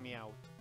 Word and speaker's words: Meowth: It's pronounced Meowth.